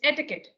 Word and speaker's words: etiquette: It's from French, from France.